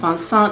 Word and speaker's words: Vincent: your name correctly so for us Americans it is spelled Vincent and but it's pronounced vant and he was wonderful